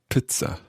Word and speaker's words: Pizza: pizza pizza i suppose we're more used to saying pizza but pizza pizza pizza so rhyming with bits you can also use